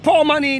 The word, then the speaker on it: Pour Money: So the Paul Money, the name Paul is spelled P-O-U-R, capital P-O-U-R, pouring something. And the money here is M-O-N-E-Y, money. It means that you are pouring money.